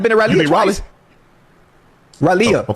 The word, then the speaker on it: Raleigh: You mean Raleigh?